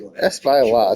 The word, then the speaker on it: Espaillat: Okay, and it should be Espaillat the Department of Justice.